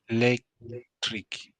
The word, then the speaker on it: electric: again electric. No, maybe I have to read the rule again and then No, the rule is just that you you stress the second syllable.